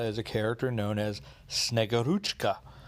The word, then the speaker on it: Snegurochka: a character known as snegoruchka and that is pretty much how you pronounce it uh sort of